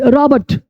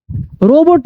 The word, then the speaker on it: robot: ROBOT रॉबर्ट, रोबोट नहीं रॉबर्ट।